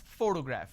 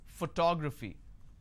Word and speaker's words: photograph: I pronounce this as photograph which means I'm stressing on the first syllable but when I look at this particular word I pronounce this as photography how do I pronounce photography and how many syllables